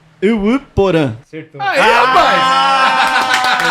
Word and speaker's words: Yvy Porã: Vamos ver se eu acerto a pronúncia. Uruporã.